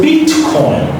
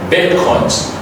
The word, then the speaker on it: Bitcoin: So, is the bet don't say beat. A lot of people say beat coin. No, it's a bet coins. Okay. Bitcoins.